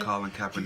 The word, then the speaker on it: Colin Kaepernick: That's like saying, what Colin, I can't pronounce him. How you say his name again? Colin Kaepernick.